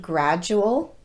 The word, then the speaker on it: gradual: have you noticed that sometimes american english speakers pronounce the letter d just like the letter j like in the word gradual if you've been unable